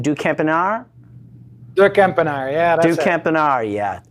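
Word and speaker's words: de Kempenaer: Help me out with a correct pronunciation. Ducampinar? Ducampinar, yeah, that's it.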